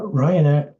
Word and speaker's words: Rijon: it my name is Ryan Erikson that's me R IJ n's pronounced Ryan I do I do